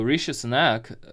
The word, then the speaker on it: Rishi Sunak: Rishi Sunak, just trying to make sure I pronounce it right after watching some of the Biden videos. So Rishi Sunak has been elected, and he is a very